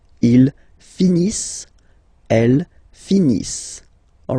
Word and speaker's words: finissent: Ils finissent. So remember, as usual, when we've got the verbs ENT not pronounced. Ils finissent.